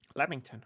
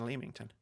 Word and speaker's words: Leamington: Leamington. I don't know why I said Leamington. It's pronounced Leamington.